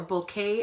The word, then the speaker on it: bokeh: This one has that kind of bokeh look to it or bouquet as some people pronounce it.